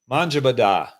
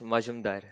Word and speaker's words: Majumdar: Rick Manjabadar. How do you say that, Roland? Rick? Oh, it's Majumdar. Majumdar.